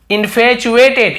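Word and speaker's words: infatuated: गए थे, सो बहुत, इन्फैचुएटेड, ये च ऐसे उच्चारण होता है, ठीक है, इन्फैचुएटेड, इन्फैचुएटेड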